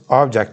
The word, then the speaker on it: object: How to pronounce object? Yeah. Okay. Which one? Filmler? Why? Object, noun, object, verb. Object, noun, object, verb. If you stress the first part, it is noun.